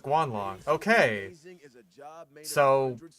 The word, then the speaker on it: Guanlong: And it is pronounced Guanlong.